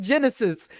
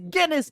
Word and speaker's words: Guinness: It's Guinness. Like the beer, like the book of world records.